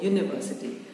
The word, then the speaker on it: university: behind this is that university has a y sounding vowel sound before you pronounce the word university but i understand this